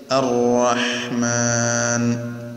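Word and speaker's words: الرحمن: അപ്പോൾ സ്ഫുടമായി ശബ്ദം നടത്തിക്കൊണ്ട് നേർപ്പിച്ച് അർ റഹ്മാൻ.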